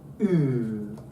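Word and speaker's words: ου: And finally, ooh, which is a lovely sound.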